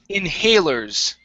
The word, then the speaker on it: inhalers: word here uh okay inhalers okay so our stress is right here inhalers inhalers okay very good uh next all